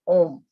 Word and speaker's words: ओम: एक तो आ उ और मा से बना होता है ओम, आ उ और मा से, है ना।